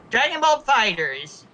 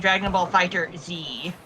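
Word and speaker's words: Dragon Ball FighterZ: Dragon Ball Fighters. Yeah. Yeah. It's just Yeah. The Z may be capitalized, but it is pronounced with the rest of the word as one word.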